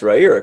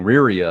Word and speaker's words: Riyria: that you did your homework because you can pronounce rajira correctly or at any rate as as i